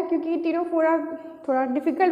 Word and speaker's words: Ctenophora: आज हमारे वीडियो का टॉपिक है फाइलम टीनोफोरा। टीनोफोरा में यहाँ सी साइलेंट है फ्रेंड्स, सो प्रोनाउंसिएशन में आप गड़बड़ मत कीजिएगा। सी जो यहाँ पे साइलेंट है, इसी को टीनोफोरा कहते हैं।